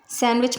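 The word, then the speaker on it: sandwich: Next सैंडविच, सैंडविच में एन के बाद डी आया है इसलिए यहाँ पर डी साइलेंट है।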